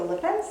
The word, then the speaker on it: Lippens: So then maybe we'll take a moment and get to know Andrea Lippens.